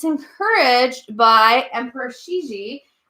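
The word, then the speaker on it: Cixi: it's encouraged by Emperor Shi XI that's how you say it that's how you spell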